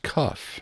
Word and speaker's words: cuff: and by the way it's pronounced cuff not cup there are four muscles